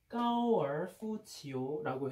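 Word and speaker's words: 高尔夫球: 그리고 이제 우리나라 발음으로 하면은 고이부구라고 해가지고 중국 발음으로 하면은 굉장히 골프랑 비슷해집니다. 그래서 까오 치오라고 해가지고 까오얼푸치오라고 해.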